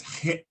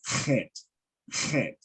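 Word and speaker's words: Chet: was trying to yeah you probably pronounced it as as as hit hit but but she's pronouncing it more in the um in the hebraic uh pronunciation of kent okay could you spell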